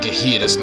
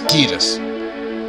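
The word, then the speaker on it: Ghetsis: It's not Gahidas, not Gahidas. It's Gidas, I think. I just like pronouncing it Gidas.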